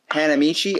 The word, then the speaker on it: Hanamichi: then how do you say your last name hanamichi oh so you're Hannah hanamichi yeah well Hannah